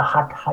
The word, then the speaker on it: Hatha: que llamamos normalmente Hatha Sí, Yoga, que se pronuncia Hatha Yoga.